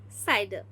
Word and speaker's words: CIDR: Now C that is a classless interdomain routing that is pronounced as cider.